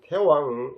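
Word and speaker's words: 太王: 무왕이 찬 태왕 왕계 문왕지서 하소. 여기는 대왕이라 아니하고 태왕이라고 읽어야 됩니다. 글자는 대왕인데 좀 높은 어른이기 때문에 태왕이라 하는 겁니다.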